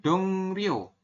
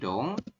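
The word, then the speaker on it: 동료: n adalah yang realnya jadi teman-teman nanti bacanya bukan dong Rio tapi dongo apa yang berubah yang berubah adalah realnya dibaca n seperti itu Sampai sini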